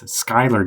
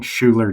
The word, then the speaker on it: Skyler: I've always been saying Schuler Dongan, but it's not Schuler. It's Skyler the way that name is pronounced.